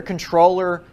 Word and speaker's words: comptroller: you go to your controller entity search you need to find that your name is available now first of all it's spelled comptroller but you pronounce it controller I think it's got